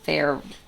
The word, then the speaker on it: Feyre: Feyre Like fairy.